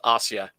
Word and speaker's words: Asia: only recently found out yes pronounced Ostia yes there's a friend